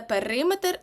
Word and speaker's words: периметр: нашого правила тому запам'ятайте дециметр кілометр міліметр сантиметр матимуть наголос на метр але периметр на и і центнер ми його